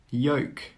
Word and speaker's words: yolk: Yoke, yoke. All of these words have a silent L. That means you don't need to pronounce the L sound.